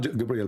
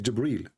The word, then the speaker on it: Jibril: here he arrived gabriel it's not gabriel by the way it's jibril even muhammad he got